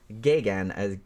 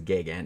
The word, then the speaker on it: Geoghegan: gay look pronunciation is gigant even though there's way more letters than you would think yeah so um so hopefully I got that right if I didn't I'm sorry Ted but Ted gagan also directed a bunch